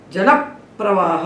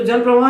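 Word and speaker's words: जलप्रवाह: मतलब ये जो संयोग जिन दो व्यंजनों का है, पा और रा का, इस पा को इसके साथ जोड़ देंगे तो उच्चारण में हमको दो पा सुनाई पड़ेंगे, जल प्रवाह। अब इसको जल प्रवाह नहीं कहेंगे, हिंदी में हम जल प्रवाह कहते हैं, इसीलिए भटकते रहते हैं।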